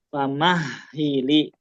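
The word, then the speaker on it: فَمَهِّلِ: Famahhili. Famahili lagi pakai H besar.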